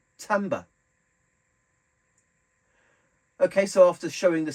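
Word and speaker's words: timbre: but I've done some researching it and it's pronounced Timba okay so after showing the sounds or Timbers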